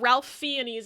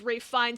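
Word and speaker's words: Ralph Fiennes: it and she's like you know it's got Ralph fenes in it and we all just started laughing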